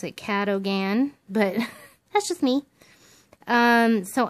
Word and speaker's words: Cadogan: Kuh-duh-gun is how it was supposed to be pronounced. Kuh-duh-gun. Or Kuh-duh-gun. I don't know. Something like that. Well, I would have pronounced it Cadogan, but that's just me.